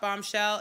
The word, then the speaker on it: Bombchel: You can follow us on Instagram at Shop Bombshell. It's spelled CHEL, not SHELL. CHEL. SHOPBOMBCHEL. Shop Bombshell.